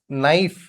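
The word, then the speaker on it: knife: wheat H इ silent here wheat wheel नी नाइफ के is silent here के is silent here and that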